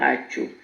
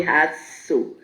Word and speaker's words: Hatso: I went to one place in Ghana called Hacho. Hacho. It's spelled Haasto. So I used to say Hatso. They pronounce it Hacho.